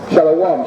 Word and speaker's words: Shalom: Shalom, shalom.